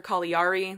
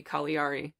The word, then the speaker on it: Caligari: Caligari there's another pronunciation that people generally say different like alighieri yeah but it's it's Italian so I think it's supposed to be collie re but regardless that set